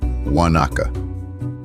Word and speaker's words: wa-na-ka: The third example is Wanaka.